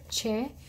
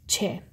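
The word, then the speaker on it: چ: three dots inside here and che so it's pronounced like an english church cho so again it has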